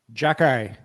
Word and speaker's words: Xhekaj: How do you pronounce his last name? Xhekaj.